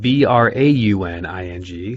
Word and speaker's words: Brauning: It's spelled B-R-A-U-N-I-N-G, so it's Brauning, like German, but it's hard to say that over the radio wave.